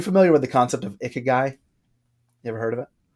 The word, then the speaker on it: ikigai: You familiar with the concept of ikigai?